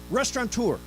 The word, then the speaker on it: restaurateur: Okay, restaurateur. Do you know there's no N in restaurant? It's actually restaurateur.